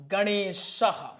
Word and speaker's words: गणेशः: जैसे आपने देखा होगा गणेशः और ये उच्चारण किस में होता है? ए ह में उच्चारण होता है। किस में? ह में उच्चारण इनका होता है। गणेशः इसका उच्चारण ह में।